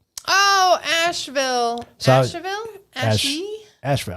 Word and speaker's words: Asheville: Asheville. I'd say it's Asheville. That's how you say it. They had to put the E in there so you don't say Asheville.